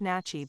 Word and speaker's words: Natchez: to the original Natchez the Natchez pronounced nachi by the original inhabitants occupied this site as